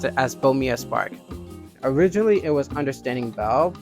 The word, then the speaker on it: Bomia Spark: When you first saw the logo and the title, Bomia Spark, I'm going to pronounce it as Bomia Spark.